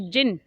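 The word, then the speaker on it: djinn: और अब प्रेजेंट में क्या हुआ है कि जिन, ये डी से स्टार्ट होता है वर्ड लेकिन यहाँ पर डी साइलेंट है, जिन आया है जो इन सभी डेजर्ट्स का इंचार्ज है।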